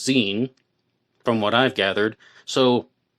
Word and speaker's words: Xen: His name was Xenophone and he went by the nickname Zen spelled XE and but pronounced Zen from what I've gathered.